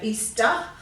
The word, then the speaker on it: Easter: we tend to say easter so once again we give it a schwa sound a grunt sound at the end if you want to